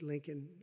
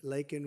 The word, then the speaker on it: Laken: was robbed of a brilliant 22-year-old nursing student lak and Riley you know lak very well now and after months of prodding him Biden couldn't pronounce her name he said uh he said Lincoln Lincoln Riley and Lincoln Riley was the football